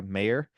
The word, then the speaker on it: Maher: And with me today is Laura Mayor, spelled Maher.